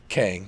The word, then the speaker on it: Kang: And is it Kang the Conqueror? Is that how you say his name? Kang, yes.